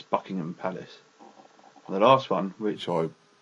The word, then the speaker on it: Buckingham: with bucking as well it's not Buckingham Palace it's Buckingham Palace the last one which